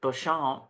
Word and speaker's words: Beauchamp: I'm so bad with the French, you guys, but it's his last name is Beecham, but they pronounce it Bouchon, Beauchamp. and book readers know When that we're all like, Percy Wainwright, Perseverance.